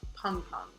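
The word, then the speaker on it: Pengpeng: so sad about it it's spelled p-e-n-g-p-e-n-g it's pronounced pong pong um i understand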